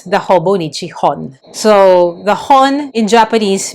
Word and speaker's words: Hobonichi Hon: from Hobonichi it's the Hobonichi Hon. So the hon in Japanese means book. And I have heard other people say hone like the h o n e I think.